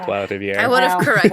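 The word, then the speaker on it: Trois-Rivières: For what it's worth, you got Trois Rivières correct. Nicely done. Oh, I'm improving on my French city names. After Benjamin and I ragged you on that last time you tried saying Trois Rivières.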